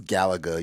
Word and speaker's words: Galaga: even pronounce terry right atari how do you pronounce it azari atari atari galaga galaga it's galaga you you don't [ __